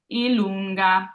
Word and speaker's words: i lunga: I lunga. So I've underlined the lun because that's where we're going to kind of hold on a little more, emphasize there. I lunga.